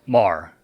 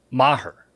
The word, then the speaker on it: Maher: the Cowboys kicker Brett Marr yeah that's his name yeah no it's not pronounced Mar it's pronounced Maher right like I'm going to murder you after the show yeah